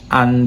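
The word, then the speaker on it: v.: the commission of police versus the accused that is usually the title and the v in this case is pronounced as versus but in private law it is depressive and they defendant the plaintiff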